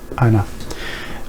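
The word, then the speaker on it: أنا: Nahnu, ana. Although this is written ana, but it is pronounced as ana, so we don't pronounce alif here.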